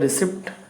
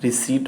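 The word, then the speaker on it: receipt: P silent रहता है इसमें, ये आपका साइलेंट रहता है, एक सेकेंड, ये आपका साइलेंट रहता है, ठीक है ना। तो इसको हम क्या बोलते हैं, रिसीट बोलते हैं, नॉट रिसेप्ट, रिसिप्ट बोलते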